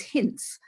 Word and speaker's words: Hince: And I always used to say, well, it rhymes with mince, but that's more of an English word than an American. So I said, I could also say quince or prince.